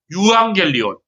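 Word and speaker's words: εὐαγγέλιον: 이거를 이제 독일어를 하시는 분들은 오이앙겔리온이라고 읽더라고요. 예, 제가 이제 신학교 다닐 때 독일에서 공부하고 오신 교수님이 있었는데 그분이 유앙겔리온이라고 안 하고 오이앙겔리온이라고 읽더라고요. 예, 독일어는 그 발음을 오이라고 하거든요.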